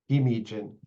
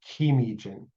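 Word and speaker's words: gimiijin: In some dialects, the double G is pronounced K. In Bictagong, the preferred pronunciation is as a single voiced consonant G, as if there was only one G there. In places like Doganing or Wikwemkong, you'll find that that becomes a K.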